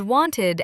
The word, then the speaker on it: wanted: And wanted adds an extra syllable.